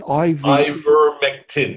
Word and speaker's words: Ivermectin: Okay, I spelled it with an O, but apart from that, it's spelled exactly how it sounds. Ivermectin.